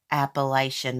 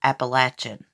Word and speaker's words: Appalachian: the Appalachian Mountains we don't call it a Appalachian Mountains here we call it Appalachian Mountains that's how we pronounce it we got country slang I accidentally